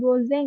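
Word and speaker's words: 午前: Kalau ini nomor 1 itu gozeng ya dibacanya.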